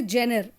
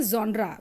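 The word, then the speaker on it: genre: पढ़ रहे थे तो हमारे टीचर्स उसे बोलते थे जेनर। लेकिन हां क्योंकि वक्त के साथ बहुत कुछ बदल रहा है। तो अब इसका प्रोनंसिएशन हो गया है ज्ड्रा।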